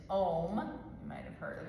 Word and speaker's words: Om: But it's 3 syllables, Om. So when you say it as a chant with the B breath idea, it's like this. Om. So it's just sounding those 3 syllables.